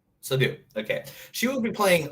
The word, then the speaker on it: Seydoux: Leah Sedokes. Is that how you say it? Sedokes? So it's Crimes of the Future and Crimes Leah of the Future. Seydoux. What was her name? Leah Seydoux. Seydoux.